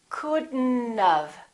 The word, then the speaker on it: couldn't have: We pronounce the D and then we connect the D next to the N and then the O disappears, but the T also disappears.